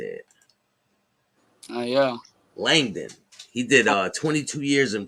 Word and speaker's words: Langdon: Langdon, I think how you say it. Yeah. Langdon.